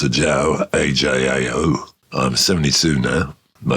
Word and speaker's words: Ajao: Well, I'm Ajao, and it's pronounced Ajao, A-J-A-O.